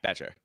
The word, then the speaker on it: Betcher: I I can never say his name right. Is it Betcher or Yeah, Betcher. Yeah, like they're good up and down the defensive side of the ball.